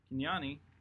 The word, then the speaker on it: Kenyani: Kenyani, that's how you pronounce it.